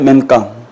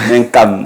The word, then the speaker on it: Mencam: Et le coach Menc. Bonjour coach. Est-ce que j'ai bien prononcé ? Mencam.